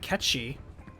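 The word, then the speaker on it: Cait Sith: my recap of it catchy because that's how you pronounce that that's the name of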